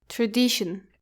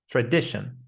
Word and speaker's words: tradition: Don't make it a long e sound like tradition. It has a short uh sound. Tradition. Predition. That's correct. Similar to position, definition, and tuition.